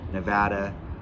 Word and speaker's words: Nevada: as favorable that need to come here to Nevada we're here for you and it is Nevada not Nevada I'll learn that eventually I still